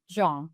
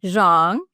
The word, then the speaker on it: Xiong: How do you say your last name? Zhang. Zhang.